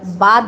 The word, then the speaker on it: বাত: কি রাইস এখানে ভাত ভাতকে আমরা বাত বলি, বাত, নট ভাত। উচ্চারণটা একটু আলাদা হয়।